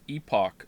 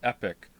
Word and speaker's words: epoch: of your community what you think about the pronunciation of epoch since you played Chrono Trigger many people pronounce it epic what it's Epoch or epep EP Oh you